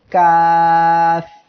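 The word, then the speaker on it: كاف: এই কাফ অক্ষরে 3 আলিফ টান এমন হবে, কাফ। এই অক্ষরটি জিহ্বার গোড়া থেকে একটু আগে বাড়িয়ে তার বরাবর উপরে তালুর সঙ্গে লাগিয়ে কাফ উচ্চারিত হয়। কাফ পূর্ণ অবস্থায় তার মধ্যখানে পেঁচানো থাকবে।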